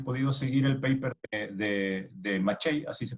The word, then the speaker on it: Maciej: Porque la idea era que, bueno, primero te felicito si has podido seguir el paper de Maciej, así se pronuncia el nombre del chico, que por cierto